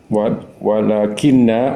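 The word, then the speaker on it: ولكن: Ini bacanya bukan walakina ya, tapi walakin Pak Haji.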